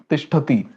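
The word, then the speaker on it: तिष्ठति: A dot below T, it becomes ta. So tishtha, tishtati. This is how we pronounce.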